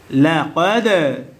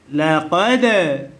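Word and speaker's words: لَقَدْ: প্রতিধ্বনি আওয়াজ কিভাবে দিতে হবে? কফ দাল জবর কদ। প্রতিধ্বনি আওয়াজও হয়নি, আপনার উচ্চারণও সঠিক হয়নি। লাকাদ, লাকাদ এভাবে পড়তে হবে।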